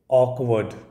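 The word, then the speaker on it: awkward: word है हमारा ऑ क व अ ड ऑकवर्ड ठीक है अब देखिए यही मजा है आईपीए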